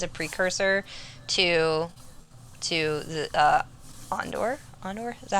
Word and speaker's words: Andor: to that as a precursor to to the on door on door is that how you say it Cassian Andor Andor thanks I'm not good with Star Wars yeah